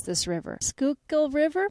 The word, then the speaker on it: Schuylkill: ride along the we just learned how to pronounce this River Schuylkill River Schuylkill River yes we rode along the Schuylkill River